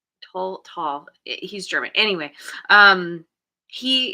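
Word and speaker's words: Tolle: everyone says tly his his name is actually pronounced tall to tall he's German anyway um he he changed his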